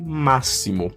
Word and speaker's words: máximo: of S, so the X also can have the sound of S, like the word máximo, that's maximum. So again, not the X, but the S, máximo. It's like there are SS here. It's pronounced like there is SS.